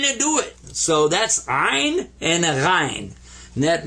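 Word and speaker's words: عين: this guy's name is ein in iron you kind of squeeze the back of your throat when you pronounce this one and i i was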